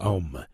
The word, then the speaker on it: Aum: É o caso do vocábulo Aum, que se pronuncia mais propriamente Om, pois é um mantra poderoso em qualquer latitude geográfica.